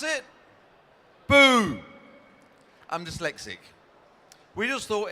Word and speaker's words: Buu: it's spelled b ux and how do you pronounce it boo I'm dyslexic we just thought it was a great name Buu Avenue did not exist uh two and a